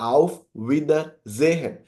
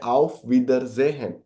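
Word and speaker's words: Auf Wiedersehen: going to be your आफ विदर जेहन एस को German में एज अ जेड साउंड आएगा तो यह चीज आपको याद रखनी है आफ विदर जेहन आफ विदर जेहन ग्रीटिंग्स को ग्रूस गॉट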